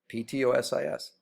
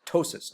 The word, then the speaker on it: ptosis: Okay, now, Ptosis, same thing. The P is silent, so it's ptosis, not ptosis.